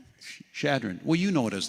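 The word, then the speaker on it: Chadron: Shadron.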